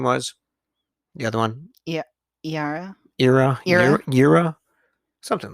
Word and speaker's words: Yara: say her name was the other one yeah yara era yura something like that y-r-e oh no wait what is it y-a-r-a yara yara that's how i was saying him oh